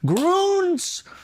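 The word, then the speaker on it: Grüns: Groons. Am I pronouncing it right? Yeah. Groons? Yeah, Because I yeah, saw that little umlaut, so I assumed it was Groons.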